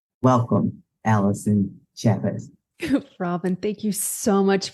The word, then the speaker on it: Allyson Chavez: Now, today, I'm talking with Allyson Chavez. Did I get it right? Did I pronounce it right?